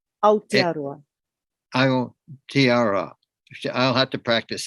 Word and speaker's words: Aotearoa: The pronunciation, Aotearoa. Aotearoa.